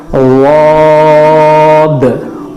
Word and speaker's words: ضاد: صحیح تلفظ ہے ضاد ضاد ضاد.